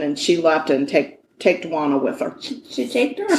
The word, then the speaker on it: Juana: Her name is Juana. Juana. Juana. I don't know. There's not a Q. Juana. Stop saying Juana. I'm saying Juana, like Juan.